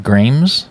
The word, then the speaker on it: Gramse: care but it's uh grams oh great yeah it's a it's a a not an i oh so I've been calling you David Grimes for kind of a while now thanks now I'm embarrassed